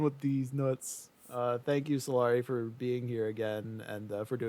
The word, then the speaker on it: Salari: That's SALARI. And that isn't pronounced salary like everyone assumes for some reason.